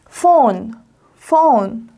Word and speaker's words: phone: 합쳐지면 phone 전화기를 영어로 phone이라고 합니다.